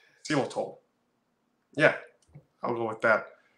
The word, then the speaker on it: xylitol: is it Jesus Xylitol it has a y so I would say Xylitol but you know you know how English is English can can just not be pronounced like that just think of the the laziest way to pronounce it that's probably like how an American would say it seal at all yeah I'll go with